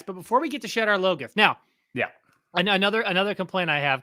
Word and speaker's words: Shadar Logoth: And like, it's pronounced Shadar Logoth. Well, he has a pronunciation guide in the book. There's a pronunciation guide in the book. And then they say Shadar Logoth.